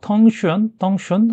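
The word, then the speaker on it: 腾讯: 됐나 재민 아이한테 물어봤더니 중국어 발음은 10센트 아니에요 근데 비슷한음 영어 발음으로 이렇게 바꿔서 부르는 경우가 많다 그래요 그러니까 뭐 텅 kh 덩춘 아무튼 뭐 그런 발음으로 되는데 이게 서양권 사람들이 발음하기 힘드니까 비슷한 영어 발음으로 바꾸다 보면 텐센트가 된다 그래서 텐센트가 됐다는 거예요 이런 일은 많이 있다고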